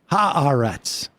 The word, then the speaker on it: Haaretz: I saw Mamdani shared that Haaretz article today. Oh, he did? Mm-hmm. Well, that's part of the global jihad that Kristen Gillibrand was talking about, spreading Haaretz articles. That's right. Haaretz.